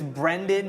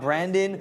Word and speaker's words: Brendan: It's Brendan, not Brandon.